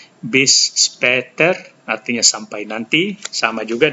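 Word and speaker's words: bis später: B speter bis speter ini ada a dengan titik dua di atas Um laut dibaca seperti A dan e jadi bunyinya seperti e bis speter artinya sampai nanti sama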